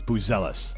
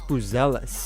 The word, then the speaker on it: Buzelis: First of all, Matas Buzelis. Matas Buzelis. Boozealous is how you pronounce it.